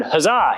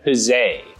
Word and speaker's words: huzzah: It might be tempting to pronounce that word huzzah, hip hip huzzah, but in fact, we think that most people in the 1700s said huzzay.